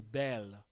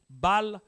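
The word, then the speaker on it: Baal: servir le bal les balles c'est-à-dire leurs idoles leur Dieu balle la vraie prononciation c'est en anglais ils aiment aussi changer ils disent belle mais c'est balle le verset 12e dit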